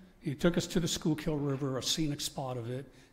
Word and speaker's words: Schuylkill: told the Uber driver, take us to the Schuylkill River. And he said, oh, you mean the Schuylkill River. So that's how they pronounce it back there. And he took us to the Schuylkill River, a scenic spot of it, and we took